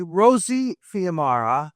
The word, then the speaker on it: Rosie Fiumara: Well, first of all, we're going to pronounce her name correctly. Rosie Fiumara. Correct.